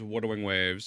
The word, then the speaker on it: Wuthering Waves: The way you pronounce it is Wuthering Waves.